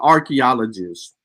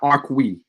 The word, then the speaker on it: archaeologist: are you didn't even it's called archaeologist not arqui there's no qui in there's no nothing that that would give you a que sound in in archaeologist your pronunciations and annunciations